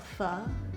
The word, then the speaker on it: Pho: you know it's um Americans pronounce it Pho but it's technically called Pho so if you're like legit you call it Pho but like I'm not